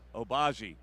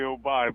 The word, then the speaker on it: Obai: That's the first time my name was ever pronounced like that. It's actually Obai, but I like that pronunciation.